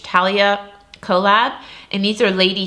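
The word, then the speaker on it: Thalia: I think you don't pronounce the H. Talia collab.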